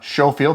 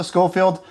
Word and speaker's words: Schofield: with another field test shooting video for the Showafield, not the Scullfield. Consensus was it's a silent K. That's the pronunciation. Showfield number three BB and pellet revolver CO2 revolver.